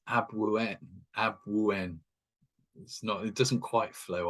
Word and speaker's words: Abwoon: So if it's written phonetically, it's ABW0 O-O-N, Abwoon.